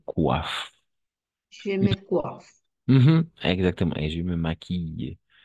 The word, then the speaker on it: maquille: Et je me maquille. I, Par exemple, alors, n'oubliez pas ça. Cette, hum, cette combinaison, d'accord? Double L. Toujours, on va prononcer I. Maquille, réveille, habille, je m'habille.